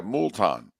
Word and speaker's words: Moulton: You don't pronounce the first O at all. You just go straight to the U and you emphasize it. But then The second O you do pronounce, and you don't, and you go Ton. Ton is Ton. So that's Moulton. That's the worst so far.